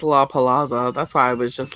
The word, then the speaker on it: La Palazza: let's hear you say it i just did la palazzo well now you're saying it correctly but before